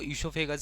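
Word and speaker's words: oesophagus: अब ये इससोफेगस भाई देखो इससोफेगस लिखा है लेकिन यह जो ओ है ना साइलेंट होगा इसलिए इसको इसोफेगस ही पढ़ेंगे।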